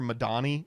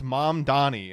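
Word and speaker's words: Mamdani: debate Zuron was like Cuomo kept calling him like Mr. Madani and he was like it's mom Donnie and he's like you're gonna have to learn how to say it.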